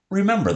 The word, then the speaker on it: remember: Remember that as you pause and analyze. All right. There are 3 syllables in remember. Re, mem, bur. Ooh, the same as in serve.